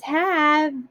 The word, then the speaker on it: have: There is no word in the English dictionary or English language that has V or ends in V. So we put the silent E after that, and that's why we have it little down here.